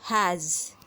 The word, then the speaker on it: has: here an example of has has word is written over there it's spelled as H a s though it has s at last but it produces the voiced sound of Z letter Z has we can feel